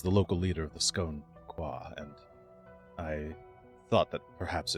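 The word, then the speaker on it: Skoan-Quah: Uh scone scone scone qua sk o n. Um he was the local leader of the scone qua.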